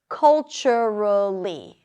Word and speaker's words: culturally: Culturally. Culturally. Stress is on the first syllable.